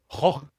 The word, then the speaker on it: Gogh: If you look at the name of Van Gogh, for example, you can see that in his name, G-O-G-H, which I think they pronounce like Goh.